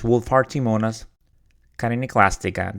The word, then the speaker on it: Wohlfahrtiimonas chitiniclastica: And you're going to observe that when I started doing the interview, I mispronounced it. I never dealt with this organism before, so my apologies. So it is Wohlfahrtiimonas chitiniclastica.